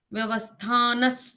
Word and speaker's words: व्यवस्थानः: तो वो ह वाली साउंड निकल जाती है और विसर्ग के आगे कौन सा अक्षर है उस हिसाब से वो उच्चारण बदलते रहते हैं। न, न है ना? अब यहाँ पर स आता है।